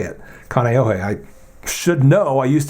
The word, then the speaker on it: Kaneohe: Hawaii and yeah that's how you say it Kaneohe I should know I used to live in